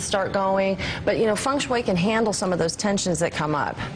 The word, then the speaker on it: feng shui: She is a feng shui expert. Not feng shui, feng shui. Yeah. Sorry. I mispronounced that earlier.